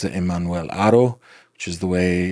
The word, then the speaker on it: Haro: They pronounce it Emmanuel Haro, which is the way it's supposed to be pronounced. But apparently, when I do that, people get angry. So we're just going to stick with Haro, okay?